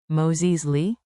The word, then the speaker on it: Možeš li: Think a gentle two-note rise. Moses Lee? Say. Možeš li? Light, friendly, rising at the end.